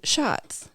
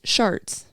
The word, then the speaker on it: Schatz: name too and then also mispronounces the name of Senator Brian Schatz calls him sharts yeah that's not embarrassing